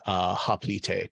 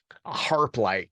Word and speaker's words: hoplite: like an ancient Greek hoplite, just like superhero pose. Thank you for pronouncing that correctly. Got you. harplite. No, fucking hoplite. Hoplite. Ancient Greek has no silent letters. You say them all.